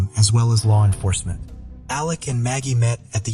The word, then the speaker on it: Alec: War, and Richard Alexander "Alec" Murdaugh could potentially follow in their family's footsteps in the future. In my last covering, it appears that he pronounces his name as Alec instead of Alex, but